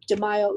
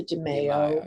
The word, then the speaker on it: DeMaio: d e capital m-a-i-o demaio is the correct pronunciation in italian it was americanized to demaio of course either one